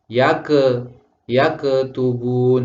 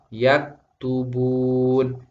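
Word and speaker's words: يكتبون: Sehingga kalau kalimat yang seharusnya dibaca yak tubun sering dibaca yake tubun. Seharusnya yang betul adalah yak tubun, yak tubun.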